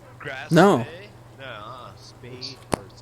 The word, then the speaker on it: Spee: Spee, or it's spelled like Spee, but I think it's pronounced Spay.